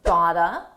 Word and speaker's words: gotta: Got to. Is pronounced gotta. I gotta hand it.